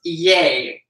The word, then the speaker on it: Ye: Rafael said about, when you were talking about ye, he said it's pronounced yay. Yay. Like the last two letters of his name.